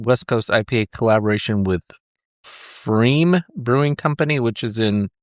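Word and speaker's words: Pfriem: There's a P on the front, but I'm guessing it's silent like pterodactyl. Pterodactyl. Yeah, I think they're in Oregon. What is it? Freem? Yeah. F-R-I-E-M. P-F-R-I-E-M. Freem.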